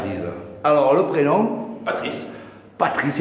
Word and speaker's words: Patrice: Patrice, et non pas Patrick comme le disent certains.